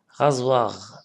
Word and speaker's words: rasoir: Lorsqu'il y a toujours S entre deux voyelles, ça se prononce Z. Rasoir, oui, chaussette, c'est écrit ici.